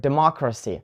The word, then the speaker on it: democracy: I so we have for example word democracy right it ends in letters C Y and the stress is on the syllable mall right D ma Kragh C we have four syllables and the third one from the end is mo democracy or we have word